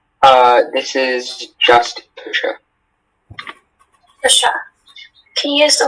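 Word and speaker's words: tusche: Are there any alternate pronunciations? This is just Tusha.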